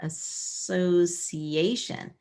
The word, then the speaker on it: association: the word association so sometimes C I can be a sha sound in this word it turned out that the C by itself is working alone and then we have a long e sound right here assocation Association